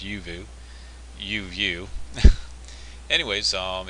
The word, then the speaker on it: Uvioo: even though it looks like uio it's actually pronounced yuu uu anyways um it's a a website that